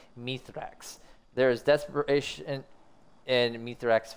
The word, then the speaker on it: Mithrax: as we call uh we call them mythrex apparently chat it's apparently pronounced mythrex there is desperation and